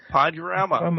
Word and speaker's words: Podurama: Did I pronounce that correctly? Podurama.